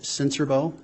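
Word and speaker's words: Sincerbeaux: spell your last name my name is sensorbo and my last name is spelled s-i-n-c-e-r-b-e-a-u-x sir how are you employed um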